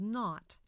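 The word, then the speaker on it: nought: part 3 decimal fractions in decimal fractions an O has two names if it comes before the decimal point it's called not after the point it's pronounced o numbers before the decimal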